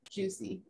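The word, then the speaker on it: Jucy: It's J-U-C-Y, Juicy. Like Lucy.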